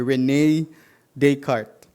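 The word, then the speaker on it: René Descartes: Nilagay ko po dito sa outline ko yyung pronunciation. kasi kakaiba yung spelling niya. Pero yung pagsabi pala ng kanyang pangalan ay Rene Decart.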